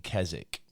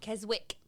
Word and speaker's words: Keswick: got an Airbnb in kzk and um not Keswick no no I think kzk silent W okay um and we